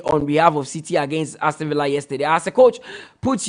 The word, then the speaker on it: Aston Villa: Mutala, please tell Nanedu that the word is Aston Villa. So you should pronounce it like the English mention it, not like the Spanish.